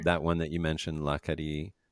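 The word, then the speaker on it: L'Acadie: That one that you mentioned, Lacadi, is that how you pronounce it? Yeah, Lacady Blanc, Lacadi Sauvignon Blanc Blanc, sounds fun.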